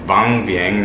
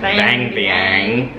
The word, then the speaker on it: Vang Vieng: the city of which we have learned to pronounce is bomb being not as a Californian would say bang bang and it's gonna be